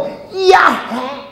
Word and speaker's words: 야훼: 못 부르니까 뭐라고 하냐면 야훼. 그러니까 야훼는 내가 히읗 발음을 여러분들에게 들려주기 위해서 야훼 했지, 실제로는 이야 이렇게밖에 안 들리는 거야. 야, 그리고 속에다가 끝으로 회 해보세요.